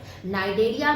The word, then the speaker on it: Cnidaria: नाइडेरिया में सी क्या है, साइलेंट।